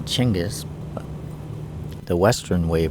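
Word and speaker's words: Genghis: to do with him or how they really pronounce his name chenis the Western Way you pronounce it is gangas well you're a pragmatist then I'm for whatever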